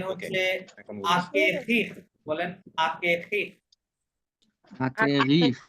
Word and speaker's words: acquérir: দেন হচ্ছে এখন আকেখিক বলেন আকেখিক Acquérir. ইউ এর পরে ইউটা আক- সাইলেন্ট আছে ওটা সাইলেন্ট করতে যাবেন না কে এসি কি হয়